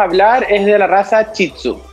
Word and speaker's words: Shih Tzu: milenco primero que todo Cómo se pronuncia esta raza porque escribe un poco ahí medio la raza se pronuncia chitsu chitsu ya Este es un